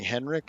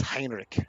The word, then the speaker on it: Heinrich: And I looked it up, and correct pronunciation in like Swedish or might be Dutch. I'm not sure, but it's Heinrich.